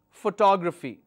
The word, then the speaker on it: photography: photograph photography or photography the actual pronunciation is photography this is actual pronunciation photographi grai now how